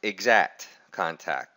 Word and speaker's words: IXACT Contact: And by the way, it is pronounced exact contact, just like you would normally say the word exact.